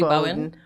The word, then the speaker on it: Bowen: So it's interesting because I think it was Julie Bowden who said she was always Julie Bowen? She's not She gonna was pronounce she anybody's was name right.